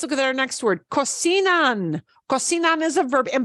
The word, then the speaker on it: cocinan: Cocinan ends in an N. Oh, vowel or N or S. Ooh, an N at the end, we punch the second to last. The way we pronounce that conjugation is cocinan.